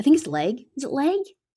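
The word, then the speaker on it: Legge: his leg is it leg it's it's l-e-g-g-e is the surname how do i pronounce that oh um yeah leg so tiggy what's your scholar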